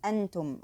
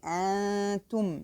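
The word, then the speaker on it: أنتم: mouth only, which is antum. Okay, I don't pronounce the n sound but keeping the nasal sound in my nose of the noon. I say antum, and this takes the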